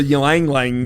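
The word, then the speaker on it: Ylang Ylang: And I remember last time we recorded, I wore the Ylang Lang, right? Is that how to pronounce it?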